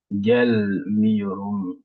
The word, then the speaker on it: gelmiyorum: Donc, c'est comme c'est ces syllabes-là qui précèdent le M, donc on va mettre un accent tonique sur ce premier syllabe-là. Gelmiyorum.